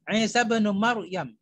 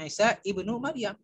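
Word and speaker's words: عيسى بن مريم: Seperti kita membaca Isa bin Maryam, ya, Isa bin Maryam. Bukan Isa ibnu Maryam, tapi Isa bin Maryam.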